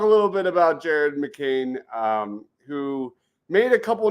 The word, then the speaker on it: McCain: hell is going on how hard is it to pronounce Jared McCain it was Jared mlan tonight it was Jared MC can these guys are drunk